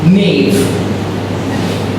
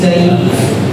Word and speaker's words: naive: You said knave. It's naive. The pronunciation should be naive.